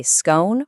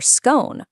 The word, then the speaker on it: scone: Do you say scone rhyming with gone or scone rhyming with phone?